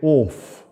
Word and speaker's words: off: O-F-F. She said, our class say oaf. And the rest of people say off.